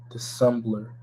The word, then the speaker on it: dissemble: A liar, dissembler. That word says liar, right? More on the word dissemble. See if I'm pronouncing that word right.